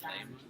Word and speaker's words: Leymah: I thought it's interesting how her name is pronounced Leymah.